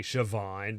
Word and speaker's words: Siobhan: like Siobhan is actually Siobhan because the B is pronounced like a b or the or the B is pronounced like a V so it's just like